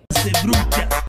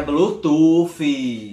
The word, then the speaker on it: Bluetooth: Ser bruxa. Ser bruxa, não é ser bruxa não. Minha gente, é Bluetooth.